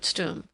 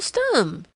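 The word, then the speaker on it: Stumm: grin why it's Colonel stum he cried he pronounced it like the first syllable and stomach very pleased to meet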